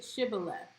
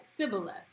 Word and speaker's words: Shibboleth: When he said no, they said to him, say Shibboleth. And he said Sibboleth, for he could not pronounce it right.